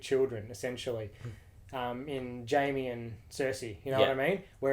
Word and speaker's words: Cersei: Yes, because there's actually a story about how Jaime and Cersei, is that how you pronounce it in the show? Yes. Cersei, yeah. Cersei? Yeah.